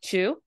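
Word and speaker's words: 中: You will see naka attached to things without no, and in that case, it will normally be pronounced as like chu.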